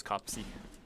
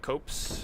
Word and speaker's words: Copse: It's going to be the notched whip in Huntsman's Copse. That's how it's pronounced, by the way. I uh I called Miyazaki on the phone before the stream and verified. He said it's not copes, and it's not uh it's not copes.